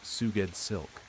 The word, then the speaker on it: Sgouedslk: Sgouedslk, pronounced Suged Silk.